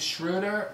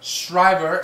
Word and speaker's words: Schreiber: We got our movie this week by director Edward Zwick called Defiance, starring Daniel Craig and Liev Schroder and Schreiber. How do you say his name? Schreiber.